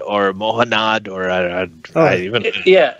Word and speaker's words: Mohanad: if it was Mahon Muhannad or muhanad or yeah it's it's it's more handed just Mohammed with an N it's easy yeah exactly